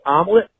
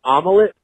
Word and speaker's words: omelet: second language there's Tom it's pronounced omelet not omelet it does not have three syllables in it please look I